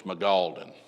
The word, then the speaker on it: Mangaldan: to pronounce that correctly, Magaldan, but the N has got to be heard somewhere, Mangaldan, but the way I heard it pronounced was Magaldan, but it was north